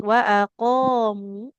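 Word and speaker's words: وَأَقَامُوا: Qaf panjang, mim tidak bertasyid. Wa aqamu.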